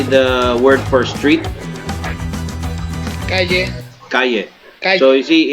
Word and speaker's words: calle: Yes, in some parts of Argentina we pronounce the double L as a sh. This is called the shesheo.